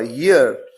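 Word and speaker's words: year: है इयर नहीं है ई से नहीं शुरू हुआ ये य से शुरू हुआ यर इसलिए यहां पर चूंकि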